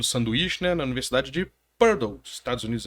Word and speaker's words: Purdue: E doutorado daquele modelo sanduíche, né, na Universidade de Purdue, Estados Unidos. É assim que pronuncia mesmo? Purdue. Purdue.